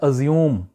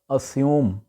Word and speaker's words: assume: ہے جی اسیوم، ASSUME۔ اس کو وہاں پہ بولا جاتا ہے ازیوم، ازیوم کرنا مثلا، لیکن یہ غلط ہے، ایکچول اس کا تلفظ ہے اسیوم، اسیوم۔ اور اسی کی